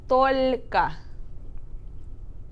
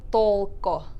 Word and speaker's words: только: So the word here is только. Только. Только. Yep. Только. Instead of like толко.